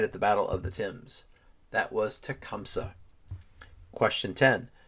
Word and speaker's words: Thames: In the fierce Battle of the Thames, and yes, it is pronounced that way, even though it looks like Thames, it's pronounced Thames, Tecumseh was killed.